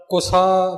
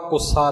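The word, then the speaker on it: ਕੁਸਾ: कुसा कटिया वार वार कुसा बिल्कुल पला बोलया जावेगा कुसा नहीं कटिया थोड़ा ज अधिक लग के उच्चारण होवेगा कटिया नहीं उर कुसा ज ओ पोला होवेगा कुसा नहीं कुसा कटिया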